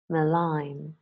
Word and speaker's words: malign: the Oxford learners dictionaries silent G words nah known Nash benign malign sign design a line